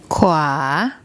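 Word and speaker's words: ขวา: This is Kor Kai, it's one of the K consonants. Then the War Wan. Those two make a consonant cluster, a KW consonant cluster, followed by the long R vowel.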